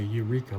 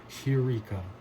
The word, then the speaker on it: heureka: They say eureka, but its wrong pronunciation is hey, this breathing mark right here, heureka.